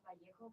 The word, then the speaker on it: Vallejo: Technically, my last name is pronounced Vallejo, but nobody says it. Vallejo. Like the V. Vallejo. The V in Spanish is B. Yeah, and the LL should be a J.